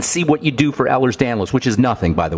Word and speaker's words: Ehlers-Danlos: Okay, let's talk about Ehlers-Danlos. First of all, there's no disease called Ehlers-Danlos. It's Ehlers-Danlos.